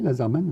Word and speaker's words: Lazermanne: Ouais, ouais, alors oui, quand j'ai voulu mettre Laserman, j'étais obligé de mettre 2 NE, et bon, on le prononce comme ça, et c'est bien prononcé, Laserman.